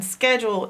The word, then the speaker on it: schedule: The only part you gotta learn by heart in schedule is the CH making the K sound. That's the only strange part in the word schedule.